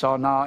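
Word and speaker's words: שָׂנֵא: is the word s-a-n-e it looks like sane but it's pronounced sauna s-a-w-n-a-w it means it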